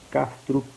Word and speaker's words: Kastrup: filósofo atual que chama Bernardo Cup com k kastrup com P mudo Bernardo Como se fala